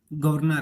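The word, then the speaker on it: governor: जैसे कि गवर्नर है, गवर्नर, तो इसमें लिखें कैसे? गवर्नर के अंदर आर तो होगा, लेकिन वो साइलेंट है, आर साइलेंट है।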